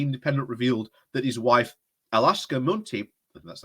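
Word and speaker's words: Akshata Murty: Sunak's standing among Tory MPs has been rocked after the Independent revealed that his wife, Alaska Munty, that's how you say it, holds a non-domicile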